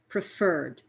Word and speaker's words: preferred: more than one syllable this rule is only true if the stress is on the last syllable notice the difference below prefer preferred visited visit visited if you listen to the way i say the word i put a little bit more energy or sound into the last part of